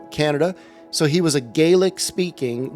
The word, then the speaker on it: Gaelic: had come to Canada so he was a galic speaking GAC is how it's actually pronounced GIC speaking um Scottish guy and he would travel